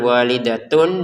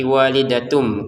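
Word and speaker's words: وَالِدَةٌ: Maka kita baca dengan walidatun bertemu ba dibaca dengan samar. Walidatum biwaladiha. Jadi jangan dibaca walidatun lagi tapi walidatum.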